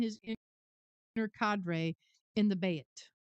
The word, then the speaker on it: Bayt: inner cadre in the Bayt. And it's spelled B-A-Y-T, Bayt.